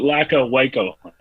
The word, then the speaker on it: Lacka Wyco Hundo: what It's Lacka Wyco Hundo.